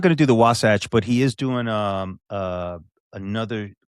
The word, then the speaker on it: Wasatch: If he competes at Sasquatch, what's how do you pronounce it? Wasatch Warrior.